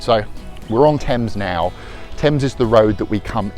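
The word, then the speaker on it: Thames: Tames. Don't know. I've heard people pronounce it, Tames, Fames, whatever. It's pronounced Tame's.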